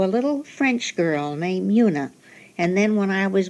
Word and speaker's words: Una Merkel: It's pronounced Una. Is it? The soft Una. U. But was it the Miss O'Connor? Wasn't it Una? Hers O'Connor? was Una. But mine is Una. You can so pronounce I've been calling you Una for years. Well, I like the soft U better.